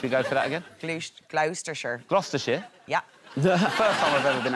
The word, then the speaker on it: Gloucestershire: can't just keep which isn't scaring pigeons at gleester sure airport let's should we go for that again gloucestershire gloucestershire yeah the first time i've ever been